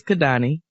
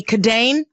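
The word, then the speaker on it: Kidane: My brother-in-law's name is Kadani. K-I-D-A-N-E. He works at Starbucks. So he wears his little name tag. And of course, you know, white people be walking up. Excuse me, Kadane? Kadane.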